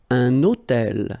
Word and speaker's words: hôtel: So you can see I'm making this little liaison between the two.